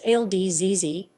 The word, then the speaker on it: الجزيرة: Al Jazeera English AJE Arabic, al-jazīrah romanized, Al Jazeera, pronounced al-jazīrah, literally the peninsula, referring to the Qatar Peninsula, is an international 24-hour English-language news channel owned by the Al Jazeera Media Network.